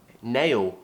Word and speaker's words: nail: Nail is quite a difficult word to pronounce because we have a diphthong, A, and then we're finishing with a dark L, ooh, nail.